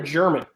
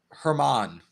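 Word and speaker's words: Germán: Is it a Herman or German? Herman. Damn, I had the silent G and I mispronounced it.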